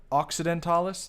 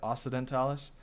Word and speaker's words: Occidentalis: For instance, in Latin, there are both hard and soft C's. I kind of forgot about that. This is Francia Occidentalis, not Francia Occidentalis, like I was ignorantly pronouncing it.